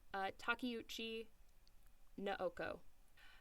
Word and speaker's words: Takeuchi Naoko: Okay, here's where I have to pronounce. One second, I have a guide. Takeuchi Naoko.